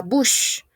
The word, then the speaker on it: bouche: Ok, la bouche. On ne prononce pas la E.